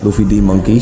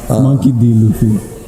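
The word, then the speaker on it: Monkey D. Luffy: Luffy D Monkey, shout out Luffy. Monkey D Luffy.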